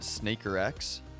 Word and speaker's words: SNKRX: that for a little bit now here i pronounce it snakerx oh that makes sense actually snakerx cause